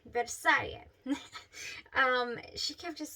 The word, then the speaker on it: Versailles: Beth, she kept telling me, she's like, Versailles, Versailles, I don't know how to say it exactly, but it's Versailles, I believe. You don't say the S here. Versailles.